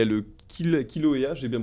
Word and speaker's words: Kilauea: Là-bas, il y a le Kilauea, j'ai bien prononcé? Oui, alors Kilauea, c'est un petit peu le frère de la Fournaise, un petit Ouais.